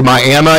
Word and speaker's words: Miami: so when they said hey no that's actually my Emma he said well you can call it whatever